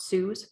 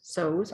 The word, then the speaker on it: Sews: It's all in my bag that came with the Christmas Eve cast on from Jibiru Sews, not Sue's, Sews.